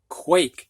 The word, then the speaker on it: quake: Sal sale snack snake now we've got quack ah short a put an e on it and we've got quake like an earthquake Sam has a short